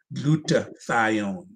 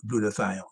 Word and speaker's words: glutathione: taking can you repeat that how do you spell that g-l-u-t-a-t-h-i-o-n-e glutathione let me see if i could put it